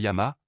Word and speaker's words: llamas: Et la prononciation du double L en espagnol est plus douce. Ce n'est pas lama comme l'animal, le lama. C'est yama, presque comme un Y l'étiré.